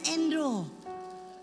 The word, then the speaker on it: Andrew: Andrew. Oh bacanya Endro. Kayak Kak Endro punya bacaan, Endro.